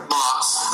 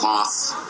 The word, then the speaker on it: Mauss: little bit Shane M moss moss right USS so and and actually um people from Germany with the same spelling pronounce it just like you did so I pronounced my name wrong you just pronounced it